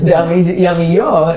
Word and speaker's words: Damijo: Yes, Damijo. It's the Spanish. The J is silent.